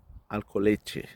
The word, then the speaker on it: Alcoletge: Alors, ça s'écrit Alcoletge. Et on prononce Alcoleche. Tche, tche, hein.